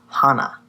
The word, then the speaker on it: hana: like flowers or Hana this one's probably a little easier to remember because it's just two syllables and it kind of sounds like a name that's popular for girls so that's Hana flower so to review